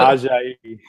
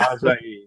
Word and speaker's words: Ajayi: And, forgive me, the kid from Boise State, Jay, how do you pronounce that? What is it? Ajayi. Ajayi. Okay. Well, there you go. Ajayi.